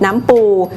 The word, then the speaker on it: น้ำปู: ดิบ ของ การ ผลิต น้ำ ปู จึง ต้อง คำนึง ถึง คุณภาพ ของ วัตถุ ดิบ และ ความ สะอาด ของ วัตถุ ดิบ เป็น สำคัญ น้ำ ปู หรือ ออก เสียง ตาม ภาษา ถิ่น ว่า น้ำ ปู๋ เป็น การ ถนอม อาหาร